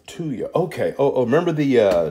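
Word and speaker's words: thuya: this is called tuya it's spelled t-h-u-y-a and our pronunciation is to you and that would really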